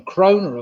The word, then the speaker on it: krona: Number nine, I was after a donor and the krona, of course.